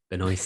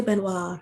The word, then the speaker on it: Benoist: you definitely that's the melissa benoist the noise i always want to say i will always want to say benoit if i could use the best like the french pronunciation yeah they have um